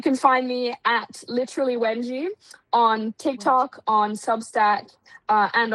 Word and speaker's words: Wanji: Oh, and it's now that I realize I've been pronouncing your name wrong. It's Wenji.